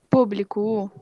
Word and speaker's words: público: Público. A antepenúltima, ó. Co seria a minha última, bli seria a penúltima e pum seria a antepenúltima.